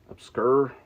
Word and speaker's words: Obscur: Obscur, that's how you say it.